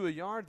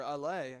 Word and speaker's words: Alay: And give credit to Ayar there, or Alay. I keep calling him Ayar. It's Noe Alberto Alay.